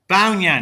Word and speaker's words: Bao Ngan: Bao Ngan, that's how you say it.